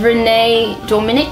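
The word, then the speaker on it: Renee Dominique: But, you know, Dodie Clark, Jack Howard, Renee Dominic, that's how you pronounce her name.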